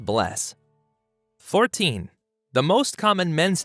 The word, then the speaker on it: bless: hello and Icelandic is pronounced Hollow thank you is talk yes is yah no is nay goodbye is bless 14.